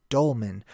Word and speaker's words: dolmen: olam so for the longest time I was pronouncing it incorrectly but it's dolmen what are the dolmen so let's check this